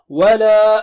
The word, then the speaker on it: وَلَا: Wala antum 'abiduna ma a'bud. Wala. There is mad there, wala, very simple. Wavy mad means you can stretch twice or more, so we'll stretch twice.